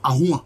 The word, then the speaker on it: Ahouan: Puisque c'est lui notamment qui s'est accaparé, je peux dire, du pouvoir royal au détriment de Agouan. Agouna ou Ahouan aujourd'hui, comme cela est prononcé.